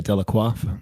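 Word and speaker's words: Delaque: models in house dequa I'm going to say delaqua because I that's how I think they should be pronounced that's correct y um did I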